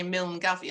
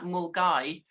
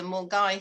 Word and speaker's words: Milngavie: It goes from, now I've almost forgotten how to pronounce this, but I know you don't say Milngavie. I think you say something like Mulgai to Fort William in Scotland.